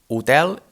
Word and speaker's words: hotel: example on the word utter is a hotel and is spelled the same way as in english with the h on front in this case the strong syllable is the second one tel and the first which